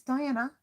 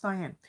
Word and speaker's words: Diane: It's Diana? No, it's Diane.